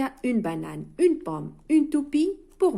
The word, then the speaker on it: banane: عندما ننطق نقول une banane. الأو دائما في آخر الكلمات في اللغة الفرنسية لا ينطق. une banane. une.